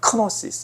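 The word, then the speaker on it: γνῶσις: 그노시스. 조금 세게 발음하면 크노시스 이렇게 되는 것이죠.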